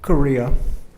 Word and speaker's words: Correa: Do we have a Correa in the office or in the audience? And I hope I pronounced your name correctly. Close. You can correct me. Korea. Right.